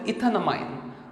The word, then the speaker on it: ethanamine: So E is removed and amine is put and you pronounce it as ethanamine, okay.